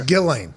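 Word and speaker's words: Ghislaine: i thought november deadline it's gillane right that's the only thing i really took from that documentary on peacock yeah they told us nothing other than her name was being pronounced wrong because alex jones started that whole thing or whatever so that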